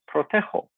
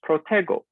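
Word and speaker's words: protejo: g changes into j pro tejo if we do not change the g to j and leave it as a g it would be pronounced protego which is not consistent with the infinitive seguir we actually drop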